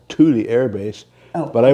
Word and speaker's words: Thule: It's called Thule Air Base.